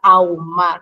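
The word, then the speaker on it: ahumar: esto forme un dictongo porque al pronunciarlo como la H no suena Entonces es lo mismo como si estuviésemos diciendo aire por ejemplo Entonces cuando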